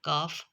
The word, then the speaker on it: calf: को साइलेंट नहीं करता, दूसरी की आवाज़ को साइलेंट करता है। जैसे CALF, काफ, अगर इसमें पहले इस एफ से पहले कोई